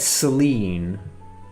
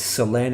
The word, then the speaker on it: Selene: I said Selene. I guess that's how you say it in English. It's Selene in Italian, but... which means moon.